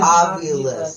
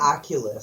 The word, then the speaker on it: Ovilus: Ovilus. You say Oculus.